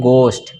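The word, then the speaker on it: ghost: घर नहीं पढ़ेंगे इसको घोस्ट नहीं पढ़ेंगे बल्कि क्या पढ़ेंगे गोश्त क्या पढ़ेंगे इसको घोस्ट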